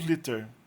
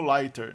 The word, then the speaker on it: liter: Tanto liter com um T quanto liter com dois T são pronunciados liter. A gente ia imaginar que o primeiro fosse pronunciado como lighter, né?